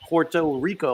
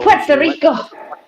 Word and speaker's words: Puerto Rico: to start with because it's not porto rico puerto rico puerto rico yes see it's not o people it's p u so it's pue so think of it as being a pwp puerto rico puerto rico i like